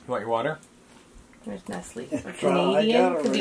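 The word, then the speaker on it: Nestlé: How do you pronounce that? Nestle. That's always bugged me. It's Nestle.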